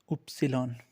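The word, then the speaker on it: Ypsilon: उसके बाद आएगा उपसिलॉन। ये वाई है इंग्लिश में, लेकिन इसको जर्मन में हम लोग उपसिलॉन बोलते हैं।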